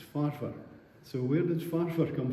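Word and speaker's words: Forfar: And they pronounce it for well most of you will know forfearians don't pronounce it for it's farfur.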